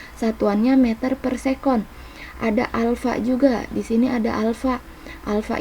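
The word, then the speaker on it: α: Hai Di sini ada ada kayak Aa tapi bukan dibaca a nah yang kayak gini dibacanya Alfa nah dia MB ini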